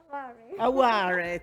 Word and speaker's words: Aware: And lastly, but not least, there she is, Aware, is that how I pronounce it, or Aware? Aware, thank you.